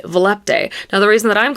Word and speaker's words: Volupté: actually quite a bit of debate about how volupte is pronounced. Some people say it's volupt. Some of my books spell out that it's supposed to be Volupe, and then some people, like me, say Volupte.